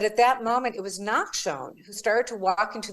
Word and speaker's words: Nachshon: Nachshon Synagogue is named Nachshon. Very few people can even pronounce that.